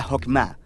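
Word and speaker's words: חכמה: En hebreo se pronuncia Jokmah y usualmente se traduce al español como sabiduría.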